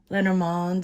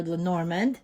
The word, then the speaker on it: Lenormand: Greetings, I'm going to be doing another Lenormand or Lenormand. There's two pronunciations. I think the European pronunciation is Lenormand reading.